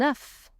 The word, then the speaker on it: œuf: Also, the phonetic O, E, U sounds œuf, as if letter O was silent.